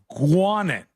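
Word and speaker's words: Gwinnett: talk about Gwinett County I cringe at the pronunciation it's said guet not how it looks gu guet County okay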